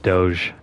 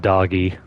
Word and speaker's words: Doge: all these guards let's go and yes it's pronounced Doge not doggy as much as I wanted to Doge do